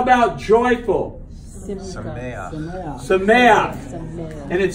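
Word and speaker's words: שָׂמֵחַ: If you have a word and it ends in a het, and under the het is a patak. It's pronounced a certain way.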